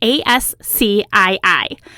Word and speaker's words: ASCII: had heard of before so ascii is spelled with all capital letters it's an abbreviation a-s-c-i-i and it stands for american standard code for information exchange we're just going to call it ascii going forward this ascii art which